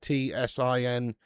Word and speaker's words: Tsingtao: It begins with a T, like TSINGTAO or some shit like that, I think it is. And it's, but it's pronounced like Bingtao.